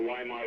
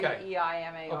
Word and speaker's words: Weimar: Well, I think in Germany they say it Weimar.